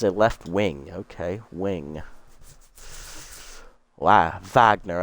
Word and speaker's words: Wagner: Wagner, I believe, is the correct pronunciation because they pronounce their W's like V's.